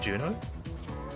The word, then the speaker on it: Juno: saying the answer but apparently youo is correct cuz I think some people can pronounce it Juno which makes sense I